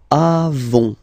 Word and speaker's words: avons: Then, nous avons, final S not pronounced, avons, okay?